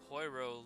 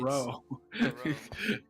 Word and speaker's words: Poirot: Poirot. You don't pronounce the poi.